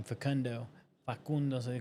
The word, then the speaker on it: Facundo: And those of y'all that don't speak Spanish, they call him Facundo, because that's how you say his name, Facundo.